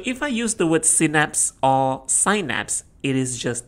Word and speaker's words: synapse: Is it synapse or is it synapse? Synapse is the British pronunciation and synapse is the American pronunciation.